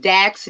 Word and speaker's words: Daqs: You got Dax, DAQS, the number two, and go is gonna be spelt GEAUX.